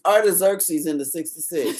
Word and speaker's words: Artaxerxes: Artaxerxes. That. Did you hear her? It's Artaxerxes in the 66.